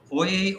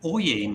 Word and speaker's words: oyez: What does oyez mean? And it's spelled O-Y-E-Z. And you may recall in the middle of that, he says oyez, oyez, oyez, oyez, if I'm pronouncing it right.